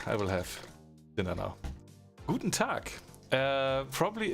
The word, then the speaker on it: Guten Tag: Guten Tag. Probably it's you can pronounce it like that.